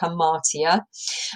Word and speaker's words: hamartia: the definition below as well on how to pronounce it so hamartia and the character defect that causes the downfall